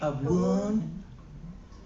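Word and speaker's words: Abwoon: Abun. Debos Shamaya. And it's it's spelled A B W O N for abun.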